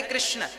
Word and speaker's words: कृष्ण: हां वेद मंत्र है यह शुद्ध उच्चारण इसका क्या है हरे राम हरे राम राम राम हरे हरे हरे कृष्ण हरे कृष्ण कृष्ण कृष्ण हरे हरे यह वेद मंत्र बोल